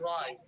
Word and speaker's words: right: this word write write right yeah it's a short one so you have to make sure you really get that R sound right right right good yeah